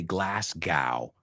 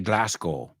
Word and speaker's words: Glasgow: Glasgow Glasgow number four Americans say Glasgow but I've heard them say glasow they say it more like go correct me if I'm wrong if there are any Scottish people listening right now I think they say